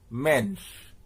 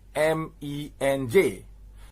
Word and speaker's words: MENJ: supposed to be pronounced mensch it's supposed to be pronounced m-e-n-j because it's an acronym it's not supposed to be a noun he basically came out